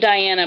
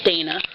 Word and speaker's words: Dana: Brandon Patrick and Dana I almost said Diana because of the way it's spelled but it's Dana um horse I draw